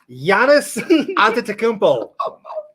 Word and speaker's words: Giannis Antetokounmpo: Can you pronounce the first? Giannis Antetokounmpo.